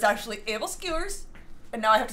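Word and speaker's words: æbleskiver: i hate when i learned that something is pronounced a different way than the way like it's said in america um like abel skivers and then i learned that it's actually able skewers and now i have to say it like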